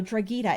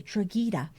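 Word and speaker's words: Drogheda: It follows I know Dragita. It's spelled D R O G H E D A Dragita.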